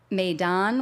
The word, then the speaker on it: Maydan: Kirby Club compass rose maidon which I can never pronounce properly but apparently that's one of a couple approved saying it um as well as